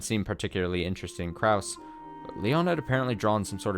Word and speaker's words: Lion: will I will concede I will not say lion Leon it's pronounced it's written as that but pronounced Leon Leon it's like my middle